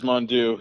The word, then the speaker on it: Mondeaux: official clarification on it is mandu correct it is mondoo yeah they uh i